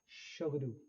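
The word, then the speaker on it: Tshogdu: ये भूटान का पार्लियामेंट है बेसिकली बच्चों, जिसकी प्रोनाउंसिएशन है शोगडू।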